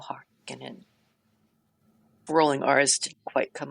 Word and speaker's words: Harkonnen: to give you recordings of how I would pronounce a certain family names in the Dune series. So we have Valja Harkonnen, we have Tuula Harkonnen, and we have Harro Harkonnen.